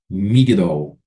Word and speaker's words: Migdol: onde ela morou, Magdala, ou na pronúncia hebraica, migdol, que significa torre.